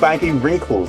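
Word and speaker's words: baggywrinkle: They're not even called winkle. They're called baggy wrinkles. Saying it wrong the whole time.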